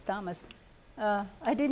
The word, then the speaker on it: Thomas: to make it English siiz but they still pronounce it like Latin so it's Thomas uh I did not know that I I